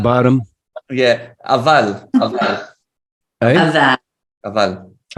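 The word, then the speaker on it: אבל: Aval. Eh? Avad. How do you spell that?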